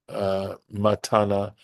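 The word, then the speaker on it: מתנה: And from this wilderness, matana nitna lahem. So the word matana, pronounced with the accent under the ta, is a gift.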